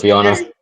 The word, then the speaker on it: Viana: Let's pronounce that right. Viana. Yeah, it is Viana.